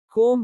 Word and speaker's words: comb: जब B M के बाद या T के पहले आता है तो B का उच्चारण नहीं होता। कोम कंघी।